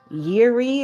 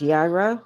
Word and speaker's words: Yireh: in the Hebrew language is Yiri or some pronounce it as Yira Y I R E H.